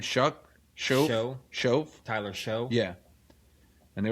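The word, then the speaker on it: Shough: one too, is I forgot who's running the show now, and it's an offensive head. It's Kellen Moore. They liked what they saw. What is it? How do you pronounce his name? Shove?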